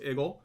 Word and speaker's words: eagle: to eagle video because eagle with the pittsburgh accent is pronounced iggle um okay eagle video